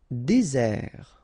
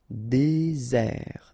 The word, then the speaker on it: désert: Désert, okay, remember final T not pronounced, désert, and really this z sound just because you get one S between the two vowels, okay, z, désert.